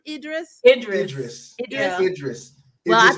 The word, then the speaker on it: Idris: Is it pronounced Idris? Idris.